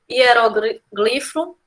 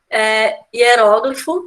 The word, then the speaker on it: hieróglifo: Então, seria, sim, a letra D, porque admitem dupla pronúncia, né? Dupla prosódia nas palavras que seguem aí, como hieroglifo, ai meu Deus, hieroglifo, hieróglifo, né?